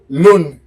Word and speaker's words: l'une: So because the difference is for one masculine, you pronounce it long. You aspirate the N, long. With the feminine, you don't. You pronounce it like a regular N in English.